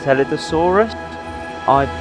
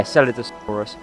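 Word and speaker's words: Scelidosaurus: of in the park, is the Celidosaurus. That's how it is. Yeah, Celidosaurus, which is one of the few European dinosaurs in the park.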